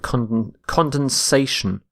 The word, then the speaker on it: condensation: spelling a little bit condensation condensation so you need to add an a instead of the e so notice this the shift in stress from condense to condensation our next word is conduct